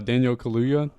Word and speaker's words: Daniel Kaluuya: My number 4, Daniel Kaluuya.